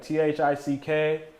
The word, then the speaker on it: THICC: You can have THICK, wherever you like. I'm a 2C guy. But 2C boy. THICC. Yeah. Thick. Okay. Just in case anybody was wondering how THICC is pronounced, it's thick.